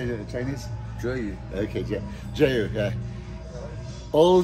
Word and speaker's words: Zheyu: Zheyu.